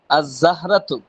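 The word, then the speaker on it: الزهرة: দিচ্ছে বুঝছেন এখন এখানে আজ জ্জাহরাতু এখানে লাম আসছে ঠিক চমচক্ষে আমরা দেখতে পাচ্ছি কিন্তু লামটা উচ্চারণ হচ্ছে না সাতুন সাতুন অর্থ কি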